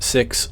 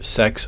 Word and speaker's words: seax: The goal here is to forge a Seax, which is actually pronounced six or sex for plural.